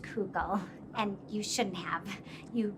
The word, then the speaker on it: kugel: things one kuggle um typically you won't hear pronounced google you would hear it pronounced coco there are a few different ways to pronounce it just based on which um like yiddish accent you have there's kegel and cocoa there are different ways but kugel is a less common pronunciation to my knowledge can i ask you